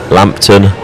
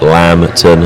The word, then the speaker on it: Lampton: Yamkill on the Pwood side of course pronounced Lampton not Lamton. I had that correction last year.